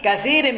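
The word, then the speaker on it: كثير: Ya'budun nasul awthana fi katsirin minal bilad. Itu bacanya katsir, ada yang keliru itu.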